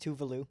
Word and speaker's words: Tuvalu: Yeah, it's pronounced Tuvalu.